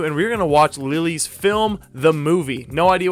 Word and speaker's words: Lili: And some people in the comments are telling me that it's pronounced Lili and not Lily.